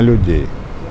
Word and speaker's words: людей: хороший коллектив вырастили прекрасных людей вырастили офицеров наостанок колишній командир частини порадив своєму послідовнику зберегти традиції колективу бути уважним до своїх підлеглих та ветеранів це і є секрет його власного успіху ударение на людей и всегда людям относился